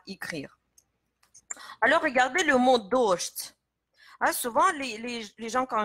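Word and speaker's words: дождь: C'est pourquoi ici, on change en fait la prononciation des deux consonnes ensemble. Dosht.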